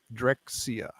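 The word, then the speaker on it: Drexciya: just so much great directxia is what it's called Clifford is asking in the chat yes yes could you spell it I can't read that d-r-e-x-c-i-y-a drexia that's it I always feel like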